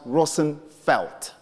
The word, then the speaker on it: Roosevelt: And Roosevelt is a bastardized Dutch name, which in real sense is pronounced Roosevelt.